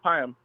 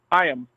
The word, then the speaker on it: Payam: Payam. How do you spell that? It's a little complicated, I know. You can call me. Did you say Hyam or Tyam? Payam with a, as in Paul.